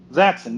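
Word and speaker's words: Zaxxon: zon was on uh is that how you pronounce that game uh it was huh zon yes you pronounced it corre okay uh that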